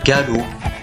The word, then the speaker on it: galop: Ces deux mots-là s'écrivent galop trop mais se prononcent galot trop.